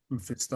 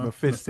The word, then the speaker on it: Mephisto: Mephisto. Mephisto. Mephisto.